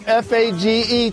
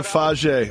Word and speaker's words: Fage: Go with the Fage. I believe that's how you say it. Fage.